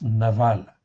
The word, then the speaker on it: Nabal: comme en fait Nabal en fait ici d'aval ça s'écrit Nabal mais ça se prononce Naval comme en fin de compte Nabal le mari de Abigaë.